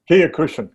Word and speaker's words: Kyokushin: Kyokushin karate, is that how you say it? Kyokushin, karate as well.